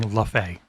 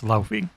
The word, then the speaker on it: Laufey: Also, I hereby ban you from saying Laufey. It's Laufey.